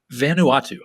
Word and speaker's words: Vanuatu: correct me if i'm wrong it's vanal too vanuatu vanuatu vanuatu okay that that's that's the name